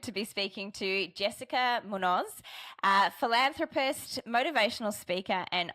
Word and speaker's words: Muñoz: because that may not be how you pronounce it how I just did. Oh yeah, it's okay. It's Jessica Munos.